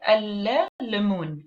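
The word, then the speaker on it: الليمون: So I don't pronounce the article la, which is the definite article. What do I do instead? I stress on the first letter, which is the la, and it is the beginning of the word lemun, for example.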